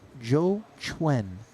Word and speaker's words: Xiao Xuan: It is our own Nanonoko, Randy Liu, who pointed out that Zhou Chuen is the way in which he would like his name pronounced.